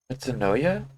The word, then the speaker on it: metanoia: Metanoia?